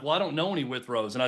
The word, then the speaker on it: Withrow: And again, I'm like, how many Witherows does one know out there? I know Withrow's not a common name, but come on. On this show, we'll get it right.